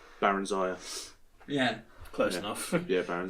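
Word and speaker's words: Barenziah: Oh, it's not Berenzia, it's Baron Zaya.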